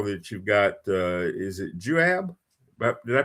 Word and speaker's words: Juab: I think I saw that you've got is it Juab? Did I pronounce that right? Yeah, the Juab Cowboy Poetry Gathering in Nephi, Utah, coming up on the 24th and the 25th.